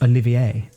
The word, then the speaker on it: Olivier: My friend, playing Oliver, who was insistent on the pronunciation of Olivier, a high elf wild magic barbarian who believed themselves to be a powerful mage like the rest of their family.